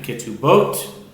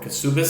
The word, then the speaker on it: Ketubot: So take the 71st Taiku in Babylonian Talmud is in tractate Ketubot or Kesubis.